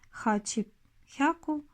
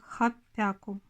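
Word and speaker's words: はっぴゃく: Тоже касается и 800. Вместо хачихку произносит как хапяку.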